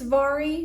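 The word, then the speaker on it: Mhairi: is my favorite author I am probably mispronouncing her name she is Scottish it's m-h-a-i-r-i but I think it's Vari Vari McFarland is a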